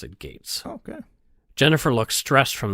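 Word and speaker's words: Getz: interesting I some people might pronounce ounc it grits but he pronounced it Gates okay Jennifer looks stressed from the beginning again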